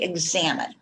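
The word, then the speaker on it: Examen: And it is spelled, luckily, E-X-A-M-E-N, but it is pronounced like you would pronounce, I'm going to examine your foot.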